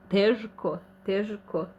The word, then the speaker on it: teško: So, teško. We are saying in Croatian teško. Š, not ž. So it is kind of hard for pronouncing it ž.